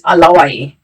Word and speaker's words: Alawaye: Your body's name is Alawaye. Say it again. Alawaye. Alawaye. Alawaye. Alawaye. Alawaye. It's Ye. It's Alawaye. So Ye. Alawaye.